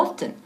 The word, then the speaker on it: often: perfecto y luego often yo digo often con la t fuerte también often Pero hay gente que